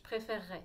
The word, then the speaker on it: préférerais: ça qu'on le dit donc si vous voulez vous entraîner à le dire rapidement ça suppose que vous sachiez faire un air france est donc bien au fond de la gorge rares et de faire un double r comme en double r je préfère ray je